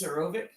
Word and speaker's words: Zarovich: Well, now you guys understand that he's pronouncing Yes. Sorovic in the same way you Americanize a name. Yeah. It's an Americanization of Zarovich.